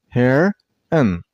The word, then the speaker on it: heron: This word has two syllables. Heron. Remember, the second syllable isn't pronounced as on. It's pronounced as n. And while you pronounce the word, you also stress on the first syllable. I mean on hare. Heron. Heron. Not heron.